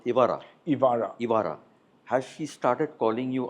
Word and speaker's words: Evaarah: Has your granddaughter, how you pronounce Evaarah? Evaarah.